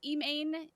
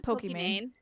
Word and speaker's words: Pokimane: Rep Ilhan Omar and popular streamers like Emane. Is it Emane? It's Pokimane.